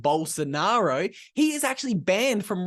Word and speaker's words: Bolsonaro: The former president of Brazil, I believe his name is pronounced Bolsonaro, he is actually banned from running in any elections for the next 8 years because apparently he's been accused of election fraud.